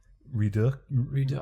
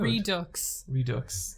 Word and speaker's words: Redux: Redo. I don't think I've ever said it out loud. Redux.